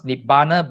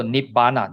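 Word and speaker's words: nibbāna: You pronounce nibbana by n I b nip then ber. The a has a dash on top. So there's a long a. So ber. So nip bana.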